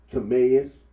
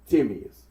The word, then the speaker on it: Timaeus: So we hear Timaeus and we hear Timaeus.